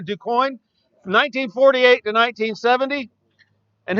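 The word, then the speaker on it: Du Quoin: It says That Magic Mile, the National Championship at DuQuoin. That's Quoin, but it's pronounced Coin. DuQuoin, from 1948 to 1970.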